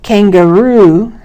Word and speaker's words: kangaroo: Banana has the second syllable stressed, and kangaroo has the last syllable stressed.